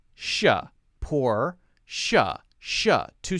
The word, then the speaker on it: Porsche: pronounced Porsche Porsche Porsche like SH sound even though it's not spelled with just an SH it's pronounced poor sure sure poor sha sha two syllables Porsche